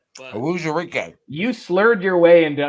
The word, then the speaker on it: Onwuzurike: Yeah, it's pronounced just like it's spelled. Well, I don't know what I even said. But Onwuzurike.